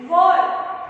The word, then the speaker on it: were: Were. Children, please focus on the pronunciation. It is not where, it is were.